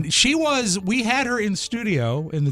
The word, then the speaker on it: McKean: Did I pronounce his last name? Yeah, Michael correctly? McKean.